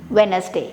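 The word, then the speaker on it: Wednesday: सो यहाँ पर हमें वेडनेसडे नहीं बोलना है, सो हमें कहना है वेडनेसडे। यस, आपने सही सुना और आप मेरे पीछे बोलकर इसे करेक्ट कर सकते हैं। So next time when you gonna say this word you have to से वेडनेसडे नॉट वेडनेसडे, ठीक है। तो डी साइलेंट हो जाएगा, ध्यान रखेगा।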